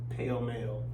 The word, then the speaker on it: Pall Mall: Yeah, Bud Light and Pall Mall. Pall Mall Red. That's right. Pall Mall Red. You know, look. Fun fact: my granddad, he used to smoke Pall Malls, and he pronounced it pale male.